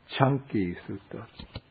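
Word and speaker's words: Caṅkī: this is called the chunky the c in poly is pronounced like ch so it's like chunky peanut butter okay if we dedicate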